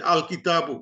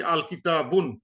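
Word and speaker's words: الكتابُ: So we put single dhamma to say al kitabu. We never say al kitabun, never.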